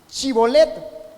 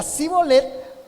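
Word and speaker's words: Shibboleth: Y le decían, "Entonces di chibolet." Si él decía sibolet porque no podían pronunciar de aquel modo, le echaban mano y le degollaban junto a los varones del Jordán.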